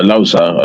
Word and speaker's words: Alausa: Babangida Kalto, whom the press center in Alausa, in Ikeja, or Alausa as it is properly pronounced, in Ikeja, was named after.